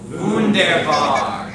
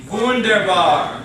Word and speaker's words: Wunderbar: Wunderbar. Wunderbar. Wunderbar. That means wonderful. Okay? So the W sounds like a V, but other than that, today we're just going to focus on the vowel sounds.